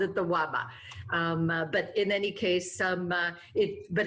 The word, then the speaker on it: Labe: This is the Waba. In Czech it's Waba, in German it's the Elbe River.